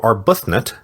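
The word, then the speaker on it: Arbuthnot: Admiral Arbutnut, got the pronunciation now, too, was 68 years old, not 86.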